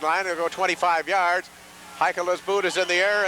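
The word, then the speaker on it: Heikkila: That's H-E-I-K-K-I-L-A, pronounced Haikala.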